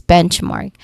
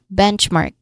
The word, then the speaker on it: benchmark: Pronunciation wise, first syllable is stress is the stressed part. Bench benchmark. This sounds like the word benchmark. Benchmark. Okay. Um, a tip is that you ensure that you you pronounce the ch sound clearly at the end of the first syllable and the long a sound in the second.